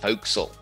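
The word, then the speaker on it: forecastle: dialect into itself like the forecast or the ship is actually pronounced foxel that sort of thing so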